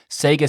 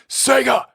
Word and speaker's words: Sega: support for the mayflash sega saturn adapter or not i pronounced that wrong sega that that's the proper way to pronounce that for those who didn't know and uh also i'm